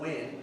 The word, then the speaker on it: Huy: I have an American name, Huynh, that's my name. But my Asian name, my real name, is spelled H-U-Y. It's pronounced Huy.